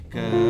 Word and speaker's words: Kędy: Dy jest nieakcentowane, musimy odpuścić. Równocześnie musimy dać na to czas. Kędy jest miłe latek dziecinnych wesele.